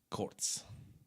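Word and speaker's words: Kurz: koch model and mp5 kurtz quartz quartz yes you're correct quartz I always said Kurt's cuz when I was a kid I just pronounced the way it looked everyone says curse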